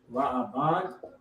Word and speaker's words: Reuben: You know how to say it in Hebrew? Ra'aban. How you spell it? Rawban. Rabban. It's Ra'aban.